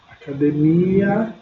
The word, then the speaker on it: academia: No espanhol, a sílaba tônica vai ser diferente. Olha só, está aí, como vocês podem observar, a sílaba que é mais forte. Então eu tenho academia. Academia. Em espanhol, como que eu pronuncio? Academia.